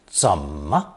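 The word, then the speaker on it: 怎么: appearing in one's mind it's very often attached to unstressed Ma together pronounced some as in these examples how much is pork belly literally how is pork belly sold notice how the N of sun is dropped in the expression some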